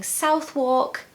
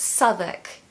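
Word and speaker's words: Southwark: this is actually the most difficult one to pronounce because it's just so confusing I hear people saying South walk south walk but no it's Southwick Southwick now Southwick is a lovely area of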